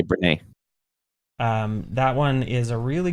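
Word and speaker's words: Brené: Brenny. Dr. Breen Brown? Brene. There you go. Yeah, I would say Brene.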